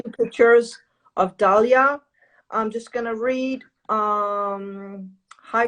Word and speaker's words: Dalia: So you have sent me an email about, how do you pronounce her name? Dalia? Yeah, Dalia.